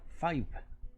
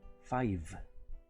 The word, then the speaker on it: five: número 5 en inglés no se pronuncia file se pronuncia fire five como si terminara con un muy suave sonido de efe five o por ejemplo